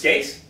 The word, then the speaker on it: Gase: And this kind of matches exactly what Gase does and what he wanted. I don't think Gase. It's Adam Gase. It's Gase. I like Gase, man.